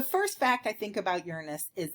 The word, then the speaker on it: Uranus: A lot of people will pronounce this Uranus, but it's actually Uranus.